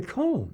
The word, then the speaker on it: Harry Cohn: hasn't read um and i probably mispronounced this guy's name earlier harry cohen harry kahn at columbia who uh oh harry cohn yeah harry cohn uh was a man